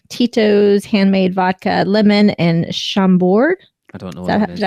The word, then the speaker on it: Chambord: They also have the Sailor Delight, Tito's handmade vodka, lemon, and Chambord. I don't know Is what that, that is. did I pronounce that correct? Yeah, Chambord.